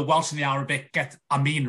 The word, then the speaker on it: Amin: I mean, my surname's of Arabic origin, Amin, and how they say it out, you know, in the Muslim world, it is pronounced Amin, as it's, you know, it's spelled A-M-I-N, but it's pronounced as if it's A-M-E-E-N.